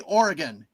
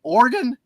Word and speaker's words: Oregon: State Beavers but no Oregon Oregon okay Oregon that's fine it just less emphasis on the E it's Oregon how how